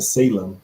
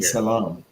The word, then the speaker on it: Salem: a lot of CDs called Salam oh without pronouncing the Salem it's really Salam these cities of Salam